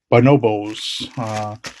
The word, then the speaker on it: Bonobos: This is a no, how you pronounce this again? Bonobos.